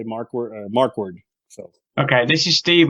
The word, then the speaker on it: Markwardt: You can leave the T off when you pronounce it. I guess just say Markward.